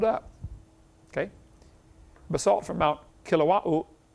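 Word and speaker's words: Kilauea: Basalt from Mount Kilawa. Kilawa, how you say it? They pronounce every vowel over there in Hawaii. Kaouya.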